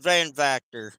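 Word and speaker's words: Van Vacter: that's fine that's my shot right there it's pronounced vanor okay so that looks like Dutch it is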